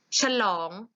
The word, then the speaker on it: ฉลอง: ฉลอง อ่าน พร้อม กัน ฉลอง อ่าน ว่า ฉลอง ฉลอง มี สระ อะมั้ย นัก เรียน ไม่ มี สระ อะ แต่ เวลา อ่าน ออก เสียง เหมือน มี สระ อะ แค่ กึ่ง เสียง เรา จะ อ่าน ว่า